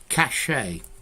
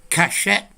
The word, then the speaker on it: cachet: Cachet, cachet. Well, let's see. For me, in RP, French words, you don't pronounce the last consonant.